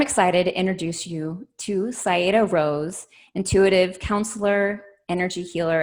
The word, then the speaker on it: Saiedah: Like, it's not Saiedah, it's Saiedah. They put a little bit more emphasis on it, but quite honestly, I don't care too much.